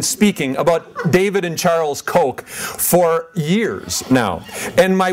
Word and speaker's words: Koch: or how about those Cook Brothers and and sometimes they actually had one other pronunciation and I kept telling them no it's it's Coke it's like Coca-Cola and now everybody knows and